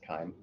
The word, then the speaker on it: chyme: And I know it's spelled chime, but it's pronounced chyme, like a K.